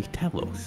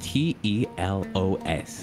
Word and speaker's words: Telos: While we're here, I want you guys to call me Telos, all right? And if anybody asks you to spell it, it's T-E-L-O-S. Gotcha? Telos.